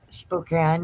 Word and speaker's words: Spokane: deep real deep up there Spokane Washington right Spokane yeah oh is that that's how it's pronounced Spokane yeah well that's how what we